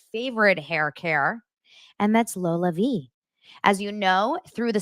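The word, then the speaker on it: LolaVie: Aniston founded this award-winning hair care line called Lola V that's l o l a v i e pronounced Lola V and Jen Anison herself just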